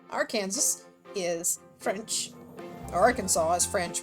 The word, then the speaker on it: Arkansas: It's because one comes from a French pronunciation while the other comes from the native pronunciation of the word Kansas. Arkansas is French.